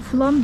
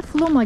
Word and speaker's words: Flåm: Biz şimdi flamı flam turistler genelde flam diyebiliyor burasını. O yüzden flam diye söylüyorum. Aslında ismi flam. E Norveç'teki üzerinde A harfinin üstünde yuvarlak harfi o olarak okunuyor. Onu da belirteyim. Genelde Flom'a gelen gezginler Flomun çok